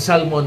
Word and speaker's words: salmon: alam mo yung tama it should be salmon Okay Salmon silent L yung Salmon sinasabi natin